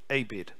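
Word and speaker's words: עבד: word servant in the hebrew is the word abed abed e-b-e-d a-bed it's pronounced abed and that means bond servant or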